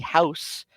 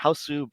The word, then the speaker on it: House: This song is from the movie House, or many people pronounce it Hausu, but the the pronunciation is house because the last vowel is actually swallowed in the Japanese dialect.